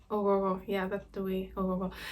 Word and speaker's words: Ogho: Ogogo. It's spelled Ogho.